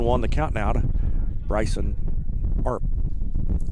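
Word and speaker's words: Earp: the count now Bryson ARP it's spelled e a r p like herp but pronounced arp big curveball dropped in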